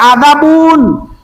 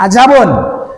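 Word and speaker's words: عذابٌ: Di Iqra ada adzabun, jangan azabun.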